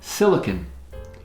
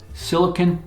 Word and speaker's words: silicon: Silicon. Not to be confused with silicone, which is a plastic resin that's not the same thing. Silicon is different than silicone.